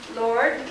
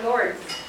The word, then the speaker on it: Lourdes: It's either pronounced Lord or Lourdes.